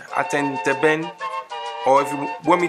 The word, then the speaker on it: atenteben: i'm holding the bamboo it's called atenteben attentiven you can spell it a t e n t e b e n and again a t e n t e b e n attend a ben or if you want